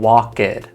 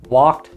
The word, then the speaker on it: walked: I'm not saying walkid or laughid. I'm keeping the word one beat, one sound, one syllable. Walked, laughed, called, played.